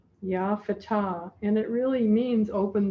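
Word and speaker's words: Ya Fattah: ourselves to realize multi-dimensionality the way that we say that in the sufi tradition is yah fatah f-a-t-t-a-h ya fatah and it really means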